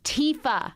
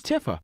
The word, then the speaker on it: Tifa: simple name like TAA it's Tifa I always thought it was Tifa okay okay so we